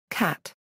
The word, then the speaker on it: CAT: Computed axial tomography, CAT, is almost always pronounced as the animal's name in CAT scan.